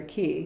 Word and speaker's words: qi: i actually have two chi machines or soki machines s o q i and you can you know pronounce q i either chi or ki soki they're awesome machines